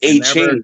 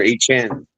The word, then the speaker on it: Etienne: wrong in college, and he's like, it's A-Chain. Correct them because no one could ever say it right. It's A-Chain. A-Chain or A-Chan. Etienne. You say it real fast. Etienne.